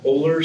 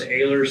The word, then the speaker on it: Oehler: Robert dealer some pronounced older some pronounced Ahlers some pronounce it owner it really depends what I tell friends and family I prefer a ler but if you call